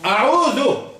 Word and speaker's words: أعوذ: Il y a des gens qui disent, par exemple, surtout les Marocains. Les Marocains, ils n'ont pas de zel. Ils ont del.